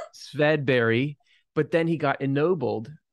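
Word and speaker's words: Swedberg: His name was Swedenborg, or I think as you'd pronounce it in Swedish, Swedberry.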